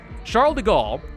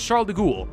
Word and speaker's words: Charles de Gaulle: once upon a time I thought I heard someone pronounce Charles de Gaulle uh as Charles de ghoul and I for some reason thought that was the proper French pronunciation and then I went